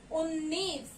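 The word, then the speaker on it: उन्नीस: And we call it as U, na ko na ki matra, badi ki matra, ni, sa, unnis, UNNIS, unnis.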